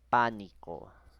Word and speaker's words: pánico: La tercera palabra tenemos la palabra pánico. Lleva la mayor fuerza de voz en la antepenúltima sílaba.